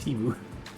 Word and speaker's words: Temu: weirdly in the pattern, but No one asked for Temu Fresh Prince. Temu. Drop that. Temu Fresh Prince. I love Ada's freaking pronunciation sometimes. Like, so weird. I don't. What? It's supposed to be Timu.